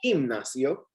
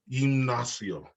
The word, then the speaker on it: gimnasio: You pronounce that gimnasio. Gimnasio.